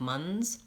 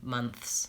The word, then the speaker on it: months: smiths months he's saying he's asking whether or not we can pronounce months like MUNs and I would say actually that's one where you need that th zone because months months both months and Smiths I think need the th and asked together or